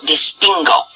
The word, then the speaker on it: distingo: of the conjugation there it only happens in yo because everywhere else there is an e or an i after the U and then therefore that U is not pronounced think back to guitarist